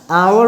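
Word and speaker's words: hour: होता है एंड क्योंकि इसका प्रोनंसिएशन आवर होता है यानी देखिए आ आ से शुरू होता है ठीक है एच ये लेटर है कंसोनेंट लेकिन प्रोनाउंस इसको प्रोना साउंड इसका होता है वो वल साउंड होता है इसलिए एन लगाते हैं अब आगे देखिए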